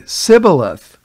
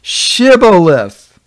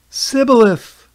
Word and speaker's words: Shibboleth: All right, so these Ephraimites, for some reason, they couldn't pronounce that H in Shibboleth. They would say Shibboleth. No, it's Shibboleth. Shibboleth.